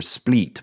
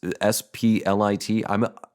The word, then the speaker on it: Split: It's S-P-L-I-T. I think I've heard of this city before, and I think it's pronounced Split, like spleef. But so that's how I'm saying it.